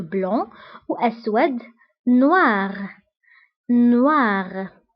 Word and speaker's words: blanc: nuit la nuit أبيض blanc blanc ما كنتقولش سي في آخر الكلمة كنقولو blanc وأسود noir noir